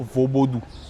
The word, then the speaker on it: Vodoun: Donc quand on prend le mot vaudou, c'est séparé en deux syllabes. Le veau, qui signifie soit à l'aise, veau, soit relax, la paix, la sérénité, et doux, manger, profiter de son existence. Donc la bonne prononciation dans la langue locale fond, c'est plutôt vaubodou. Exactement, vaubodou.